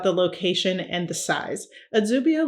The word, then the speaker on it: Adsubia: Phonetically, the pronunciation of the town in English will look more like the Spanish version of the name, which is Adubia.